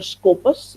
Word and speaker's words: Skopos: So it says the word Skopos is from, just like we have the English word scope, we spell it like SCOP, scope. किसी चीज का क्या scope है? SCOP, scope. This is in Greek word. It is a Greek language. It is called Skopos, but it means the